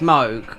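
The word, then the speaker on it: Mohg: have to glitch um Moog or if in America MOG no it's MOG okay he's got H in there unless unless you're Spanish how would you call him cuz I don't pronounce hes mo mo thank God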